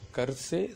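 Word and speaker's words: घर: Rajesh கர்சே school ஜாராகாகை. கர்சேன்னா கர்ண வீடு, இது கர்ணு படிக்கக்கூடாது, கர்.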